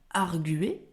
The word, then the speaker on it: arguer: point sur la prononciation le U se prononce donc on dit bien normalement arguer parce qu'en fait il